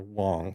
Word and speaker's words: Wang: at UNCW uh the Wang Lab Dr Dr Wong sorry it's spelled Wang but it's pronounced Wong Dr Wong which is